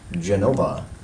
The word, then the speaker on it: Genova: Genova. And Naples. Your answer, please. Naples. No, Napoli is how they pronounce that.